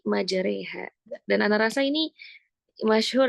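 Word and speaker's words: مجريها: Nah, ini agar jangan sampai salah nih bacanya bukan majaroha ya tapi majareha.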